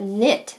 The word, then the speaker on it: knit: you're knitted let's put knit that's a word that starts with k but sounds like n at the front you only hear the n what else crochet yes